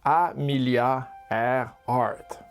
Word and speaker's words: Amelia Earhart: Elle s'appelle Amilia Herhard et c'est dur à dire ce nom mais ça se prononce Amilia Airhard.